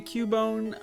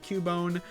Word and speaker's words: Cubone: whatever the species of Cubone. Cubone. It is kind of weird that it's pronounced Cubone, but there's no Q.